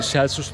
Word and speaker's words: Celsus: Bu arada Celsus adı böyle celsus değil, celsus değil, celsus diye okunuyor yani Latince'de.